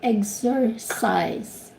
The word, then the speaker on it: exercise: let me interrupt sorry say exercise say okay egg eggs eggs says okay just follow me x x sir sir size size again x x okay now let's let's take the three syllables exercise exercise good job okay all